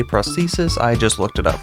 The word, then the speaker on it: prosthesis: prosthesis and yes that is how you say prosthesis i just looked it up this talisman increases